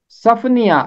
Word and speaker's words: صفنیہ: والا۔ اگلا تلفظ ہے صفنیہ، یہاں بھی نون کے نیچے زیر آئے گا، صفنیہ، سواد کے اوپر بھی زبر ہے، فے کے اوپر بھی زبر ہے، صفنیہ، یہ ہے اس